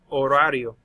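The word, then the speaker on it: horario: schedule it is El orario notice I'm not pronouncing the H you've seen a lot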